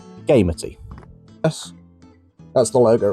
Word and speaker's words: Gamity: It is not gamuty, it's gamey.